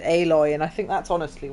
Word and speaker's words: Aloy: they went for the calling her alloy like metal but they pronounce it aloy and I think that's